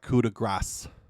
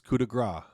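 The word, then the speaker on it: coup de grâce: If Michael Cole can pronounce the fucking thing right, it's not coup de grace. It's coup de grace.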